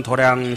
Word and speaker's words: 도량: 엄당 도량 신가 그 우리 절에는 이제 독특하게도 도장이라고 읽지 않고 도량이라고 읽지요 수미 보강 도량 신가 내음 당상 도량